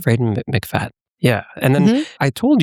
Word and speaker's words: Freida McFadden: Freida McFadden. Freida McFadden.